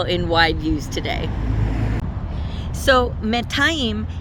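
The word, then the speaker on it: מאתיים: So, Metayim is the way to say 200, and this is just Me'ah with a dual ending on the end. And so this is the only correct way to say 200. It is not correct to say anything like shte me'ot.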